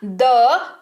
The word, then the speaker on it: the: THE जो कि दो तरह से उच्चारण किया जाता है, दी और द दोनों के तौर पर, और दोनों को आप कब क्या उच्चारण करेंगे ये हमने सीखा।